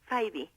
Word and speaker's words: Fyvie: El segundo apellido es Faibi.